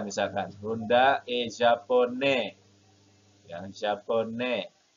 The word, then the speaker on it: japonais: Ya, japonais. Tidak ada E-nya. Berakhir dengan S, maka dia bacanya il est japonais.